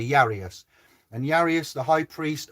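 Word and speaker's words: Jairus: i r u s and as yanker is spelt with a j and we say yanka j i would i would argue but jesus is spelled with the j and we say yeah well it's jesus jesus you know certain things so i'm going to say yarius and yarius the high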